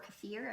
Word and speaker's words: kefir: consumer you can try kefir or kefir everybody pronounces it a little bit different or fermented veggies oh